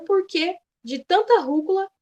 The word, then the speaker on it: rúcula: Gostaria de saber o motivo de tanta rúcula e cará no meu prato. Ah, funcionou. Então, beleza. O acento é esse mesmo, é esse porquê mesmo. Rúcula, também, a gente tem a sílaba tônica sendo proparoxítona.